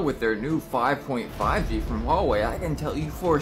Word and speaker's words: Huawei: now stepping in the 5G but guess what Huawei unveils world's first 5.5g Network and yes that's how it's pronounced pretty weird right anyways got to love